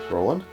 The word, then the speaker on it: Roland: of uh i think ronald right ruland ronald so it's roland ronald is it ronald it's roland can we say his